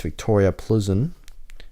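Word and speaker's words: Viktoria Plzeň: but had a very very good fixture against Victoria Pleasant that's how you say it and by Neymar's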